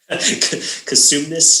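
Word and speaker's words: Cosumnes: Now, how do you pronounce that name? Is it Katsume? Kasumnes CSD.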